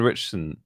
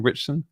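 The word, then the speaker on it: Ritchson: he didn't um alan richardson rich richardson richardson say you pronounced his name richson whenever i spell it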